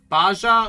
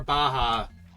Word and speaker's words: baja: Is it said baja or baja? Well, yeah, it's it's a Spanish word, so the J would be pronounced like an H, right?